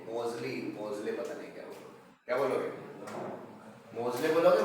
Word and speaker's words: Moseley: मोजले, मोजले पता नहीं क्या बोलोगे? मोजले बोलोगे, मोजली बोलोगे?